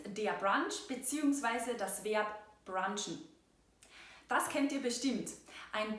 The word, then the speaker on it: brunchen: Wir sagen nicht brunchen, aber wir verwenden die englische Aussprache, nämlich brunchen.